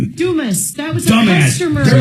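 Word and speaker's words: Dumass: Well, I they pronounce it Dumis. Dumis.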